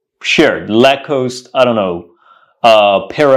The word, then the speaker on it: Lacoste: I'm here to buy a la coost or La cost let's say uh shirt or an item of clothing what you should say is I'm here to buy let's say a lacost shared lacost I don't know uh pair of socks or